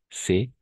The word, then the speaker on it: ce: va prononcer C et ici on va prononcer ce d'accord e fermé e ouvert voilà pas de question